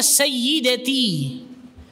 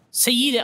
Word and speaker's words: Sayyidati: Bukan Siti, aslinya Sayyidati. Sayyidati, orang Arab bacanya cepat, Sayyidati, Sayyidati. Sampai ke Bandung panggil Siti.